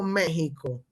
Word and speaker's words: México: que se escribe, pero recuerden que en el español para gráfico la X tiene pronunciación de J, así que se pronuncia México, pero se escribe en México.